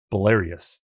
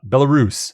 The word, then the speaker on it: Belarus: of Asia Russia and bious did I say Belarus oh my God I called it bious B I said it right the second time okay I I I